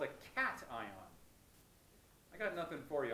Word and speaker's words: cation: But it's pronounced anion and cation.